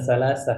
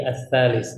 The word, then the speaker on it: الثالث: Kita Nah, bacanya bukan salasah ya, tapi ats-tsalis.